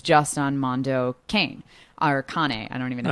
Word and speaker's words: Kane: Or Kane. I don't even know how you say it. You just be honest. It's Mondo Kane.